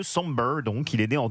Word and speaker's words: Sombr: Ça s'écrit comme sombre mais sans le e. Somber donc il est né en 2005.